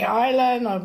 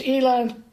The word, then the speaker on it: Eitan: Yes, Shoshana Levy, and it's still Eitan and pronounced Eitan. Some say Eytan, but it's Eitan.